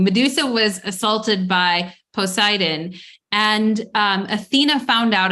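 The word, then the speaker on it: Poseidon: um mythology around Medusa Medusa was assaulted by pidan uh posidon sorry I always say his wrong name wrong Medusa was assaulted by posidon and um Athena found out about it and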